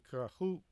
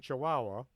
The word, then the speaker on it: Chihuahua: A meteorite that crashed in Kahuahua. That's how it's spelled. Come on. A meteorite that crashed in Chihuahua in the late 1950s contained crystalline structures that far outdate the solar system.